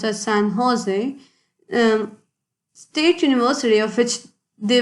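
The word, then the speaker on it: San José: u.s recently the san jose sorry it is pronounced as san jose state university of which they were former students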